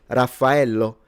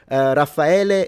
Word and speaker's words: Raffaello: And I would say, Raffaello. And every time, punctually, my whole freaking life, they pick up the thing and say, Raffaele is here.